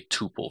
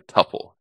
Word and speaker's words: tuple: and it couldn't change you could use a tuple for that or a tupple tell me how you pronounce it Tomatoes Tomatoes All right so the